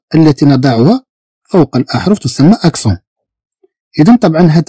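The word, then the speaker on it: accent: إذا نتكلم عن أكسون، في اللغة الفرنسية نقول أكسون. إذا في اللغة الفرنسية نقول أكسون، تكتب بهذا الشكل أكسون، بهذا الشكل.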